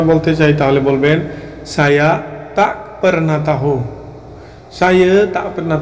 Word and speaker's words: tak: চাই তাহলে বলবেন saya tak pernah tahu, saya tak pernah tahu। কিন্তু লেখার সময় এই তাক শব্দটি লেখা হয়, কিন্তু উচ্চারণ করার সময় তা বলা হয়, তা।